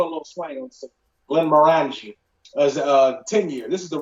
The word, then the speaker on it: Glenmorangie: Now I used to say Glenmorangie, but I think it's Glenmorangie.